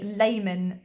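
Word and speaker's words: Lehmann: This is called the Layman Discontinuity, and it's spelled Lehman, and then discontinuity, because it's not continuous, hence discontinuity.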